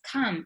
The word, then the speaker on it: come: the problem is that at the end instead of saying come we say com and it's not com is kam is an a although you write an o yes be careful with